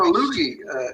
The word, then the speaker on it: loogie: No, Loogie. It's a Loogie. It's a Loogie. It rhymes with Mookie.